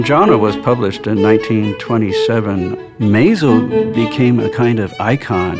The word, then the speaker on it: Mazo: M-A-Z-O, pronounced Mazo.